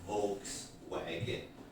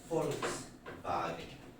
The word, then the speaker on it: Volkswagen: It's not Volkswagen, Volkswagen. Because in German, V is actually and W is V.